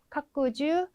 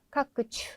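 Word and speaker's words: 拡充: 그러면 네, 충은 발음이 주일까요? 추일까요? 카끄주, 카끄추.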